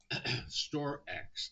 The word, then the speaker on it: StorX: StoreX. Now, I want everyone to be careful with this. It's spelled STORX, and its trading ticker is SRX.